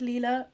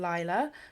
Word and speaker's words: Lila: the main characters and i'm gonna pronounce it leela i think it's leela rather than lila but apologies if i'm saying that wrong so it tells the